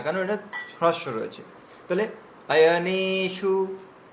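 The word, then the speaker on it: অয়নেষু: হ্যাঁ, দেখুন, আয়নেশু, আয়নেশু, এখানে নেটা হচ্ছে দীর্ঘ আছে, তাহলে আয়নে, আয়নে শু, আয়নেশু, ঠিক আছে।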